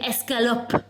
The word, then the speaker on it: escalope: Big, big, fat chicken escalope. And what's that sauce? How do you pronounce that?